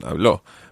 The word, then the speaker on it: habló: Okay, it's different from some of the other verbs because remember with hablar, we said habló and put the stress on habló.